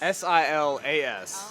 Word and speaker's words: Silas: S-I-L-A-S. Oh, Silas. Yes, that's how you pronounce it.